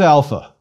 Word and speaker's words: alpha: our own letter A it is always pronounced when long like the a in father or when short more like a it is never ever pronounced like the a in cake or the a in cat please repeat Alpha a